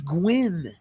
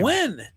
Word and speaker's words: Gwynn: Pronunciations. It is Gwyn. Oh, what did she say this time? Gwen.